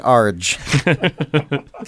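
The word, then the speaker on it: ARG: By an Arj. An Arj. I pronounce it Arj.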